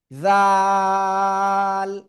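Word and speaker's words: ذ: উচ্চারণ করবেন। জাল জাল।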